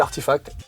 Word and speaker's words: RTFKT: Ça se dit Artifact. Ça s'écrit RTFKT.